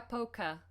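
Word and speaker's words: пока: please say in Russian polka polka uh stress on the last letter which means bye bye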